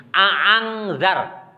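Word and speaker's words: أأنذرتهم: Hamzataini, membaca kedua hamzahnya. A'angzar. Cara pertama. Itu disebut cara hafaz. Orang Indonesia, Imam Hafaz itu membacanya a'angzar. Itu tahqiq namanya, dibaca jelas ya.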